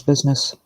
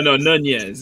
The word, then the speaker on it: Nunez: His business. Business. No, Nunez. It's how it's pronounced.